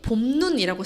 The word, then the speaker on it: 봄눈: 자, 그런데 그것이 봄눈이라고 쓰였을 때는 짧게 발음됩니다. 왜 그러느냐? 긴 소리를 가진 단어라도 이게 첫 음절에 있을 때에만 긴 소리가 나기 때문이에요.